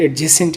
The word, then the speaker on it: adjacent: Tick the pairs of एडजेसेंट angles. ये जो आपके पास वैसे इसको एडजेसेंट बोलते हैं, लेकिन ये डी साइलेंट है।